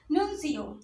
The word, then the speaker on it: nuncio: ठीक, इसकी स्पेलिंग जरूर ध्यान से याद करिए। PHILATELIST। इसके बाद आते हैं नुन्सियो।